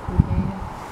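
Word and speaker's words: Quebee: Yeah, it says Kubi. Yeah. That's a race tag. That's a race tag. Mm-hmm. How'd you spell it on the tag? Q-U-E-B-E-E. Yeah, Kubi.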